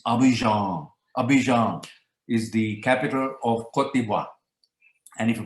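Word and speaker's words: Abidjan: too much but uh get the pronunciation right and it's abhijon and if you pronounce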